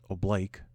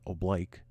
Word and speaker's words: oblique: Marta March all right oblique another rancor says Oh Blake it's actually pronounced the word is pronounced oblique but the Marine Corps wants you to call it Oh Blake if if you marched an oblique well it's